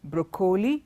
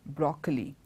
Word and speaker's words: broccoli: a deep green color it's not Brooke holy it is broccoli and broccoli also is